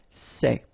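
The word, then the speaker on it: ces: one form okay and it's say okay remember open Say Say Say Okay one example s so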